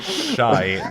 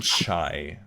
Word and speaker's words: Shai: I said Shai, not Chai. It sounds the same to me, man.